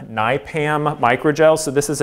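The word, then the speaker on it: NIPAM: okay last one if you've seen this is pronounced Nye Pam Nye Pam micro gel so this is a neat polymer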